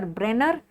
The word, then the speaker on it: Brenner: that is Brenner's tumor remember brener is rhyming with bladder and bladder has transitional